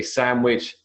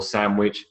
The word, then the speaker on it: sandwich: the alveola ridge so if you say sandwich or sandwich depends on the proximity of the next phon which is w w now W comes from